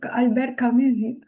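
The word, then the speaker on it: Albert Camus: Albert Camu. I'll definitely pronounce it right.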